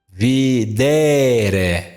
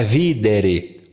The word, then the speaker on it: videre: Portanto, amare é uma paroxítona, porque aqui está a sílaba longa no meio. Videre, videre, viu? Não é videre.